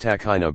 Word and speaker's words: Tahina: Tahina. Pronounced takhina by most Israelis, and local flatbread, Arabic kubez, called pita.